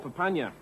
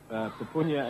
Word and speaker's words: Papunya: It's called Papunya, and I've heard it pronounced two ways, Papunya and Papunya.